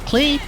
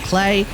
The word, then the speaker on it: Klee: keep calling her Claire there is like three different ways to pronounce her name you could go with the in-game version of plea you could go with the alleged German version of play or you could go with what I've decided which is Claire because